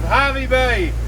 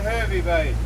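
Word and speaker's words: Hervey Bay: is a suburb of Harvey Bay which is not hervy Bay and that's where Rob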